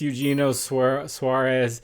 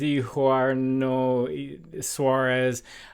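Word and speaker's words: Eugenio Suárez: For me, it's Eugenio Suarez, but she said it's Eugenio Suarez.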